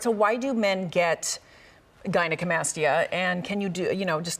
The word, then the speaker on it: gynecomastia: We talked about breast augmentation, and now we're talking about gynecomastia reduction.